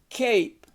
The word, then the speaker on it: cape: this word and then that Arrow indicates you're going to transform it or convert it into the long vowel word with the E on the end and practice these two